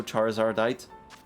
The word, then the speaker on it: Charizardite: Charizardite cuz you add a it at the end. So, Charizardite.